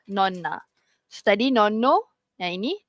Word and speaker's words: nonna: sekarang non naona na kalau kat Malaysia kita selalu dengar nona yang non tu kan tapi tu ada satu N yang ni dua N so again non na okey tak payah break sangat tapi kena tekankanlah non na tadi non no yang